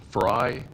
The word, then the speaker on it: Frey: and members of counil my name is fry as in French fry even though it's spelled fry I reside in Park Hill